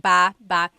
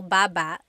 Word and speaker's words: baba: So depending on how you're saying it, it could be ba chin baba. Emphasis is on the first syllable. Baba. Then there's babba baba. Emphasis is on the second syllable syllable. That means to go down.